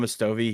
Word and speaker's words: Mostowy: And my friend, shout out to John Mostowy. His last name's spelled Mostowy, but it's Hmm. actually the W is pronounced as a V. It's kind of weird, but Yeah. shout out to John Mostowy.